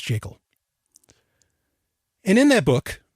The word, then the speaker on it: Jekyll: Yes, it's pronounced Jekyll.